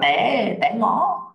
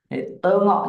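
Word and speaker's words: tengok: Thấy phim đúng không n chúng ta dùng tơ Ngọ qua dă là đi đi xem phim t Ngọ được chưa nào một số bạn đọc là té té ngó té xong rồi ngó ngóc đầu về ngó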